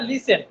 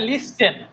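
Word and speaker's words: listen: ও এফ টি ই এন এখানে টি এর উচ্চারণটা নাই বা আপনারা বলেন লিসেন বলেন লিসেন প্লিজ লিসেন বানান যদি খেয়াল করেন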